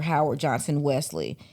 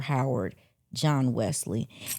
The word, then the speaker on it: Howard John Wesley: But I said his name wrong the last time. So, his name is Reverend Dr. Howard John Wesley.